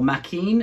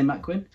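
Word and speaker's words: Maquin: This is where Macquin really comes into his own, or Mackin, as some people say. I like to say Macquin. That's how Dad pronounces it.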